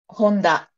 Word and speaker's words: Honda: right Isuzu um Honda do you say Honda different ah Honda would be Honda I gotcha um Yamaha